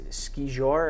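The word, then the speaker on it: skijor: When a dog is pulling you when you're doing, is it ski jour, or how do you, is that your pronunciation? You nailed it. Okay, so ski jour, and then you have the adaptive race too, which is really, really cool.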